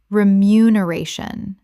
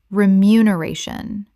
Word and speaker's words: remuneration: remuneration common mispronunciation remuneration correct pronunciation remuneration six syllables with the stress on the fourth and not to be confused with renumeration which is not a real word.